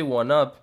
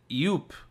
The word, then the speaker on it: 1UP: The word 1-Up came up in the conversation, and he didn't say 1-Up, he didn't say Guanap, he said Yoop, like replacing the one with an I.